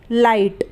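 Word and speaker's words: light: जी हा टी लाइट तो लाइट में भी आई है और आई के बाद जी हा टी है तो आई को तो हम ए आई पढ़ लेंगे और घाट में जो इसका जी हा है वो साइलेंट रहेगा यानी उसका इस्तेमाल नहीं होगा तो ल को हम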